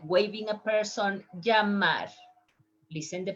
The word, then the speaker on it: llamar: The verb call, like call by phone or call like waving a person, llamar. Listen the pronunciation. Llamar, llamar, llamar.